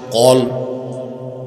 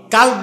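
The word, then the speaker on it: قلب: সেই অংশটার নাম হচ্ছে কল কি কালব না অনেক মৌলবীও ভুল করে কয় কাল কাল মানে কুত্তা এটা হবে কি কল উচ্চারণের বেশ কবে কত পরিবর্তন একটা হচ্ছে অন্তর আরেকটা হচ্ছে কুত্তা উচ্চারণ সহি করতে হবে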